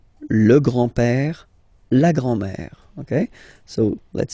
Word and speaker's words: grand-père: So, le grand-père, grandfather, le grand-père, remember, accent grave like that, it's this open père, le grand-père, le grand-père. And then the feminine form, grandmother, la grand-mère, la grand-mère. Okay, so les grands-parents, le grand-père, la grand-mère.